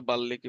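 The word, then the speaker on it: বাল্মীকি: বর্ণফুল এরপর নাটক হচ্ছে বাল্মিকি প্রতিভা উচ্চারণটা একচুয়ালি বাল্লী হবে ঠিক আছে কারণ ল সাথে ম আছে তার মানে ডাবল উচ্চারণ উচ্চারণ যখন পড়াবো তখন এটা শিখবা বাল্লিকি প্রতিভা আপাতত বাল্মিকি পড়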